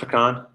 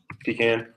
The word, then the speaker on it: pecan: Is it pronounced pecan? Pecan? Pecan? Depends on the area you're in.